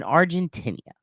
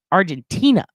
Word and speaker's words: Argentina: chief of police in argentinia Argent Argentina I always say it wrong Argentina Tina like your friend in Middle School you stupid [ __